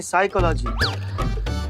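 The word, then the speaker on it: psychology: तो साइकोलॉजी नहीं, साइकोलॉजी। P silent होता है।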